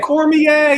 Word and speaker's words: Cormier: Cormier is the pronunciation.